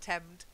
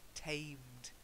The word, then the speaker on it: tamed: And then tamed. Remember, it's a long A sound. Not temmed, tamed.